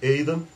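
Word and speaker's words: Aidan: A gente escreve Aiden, né, mas pronuncia-se Aiden, que convocou, chamou a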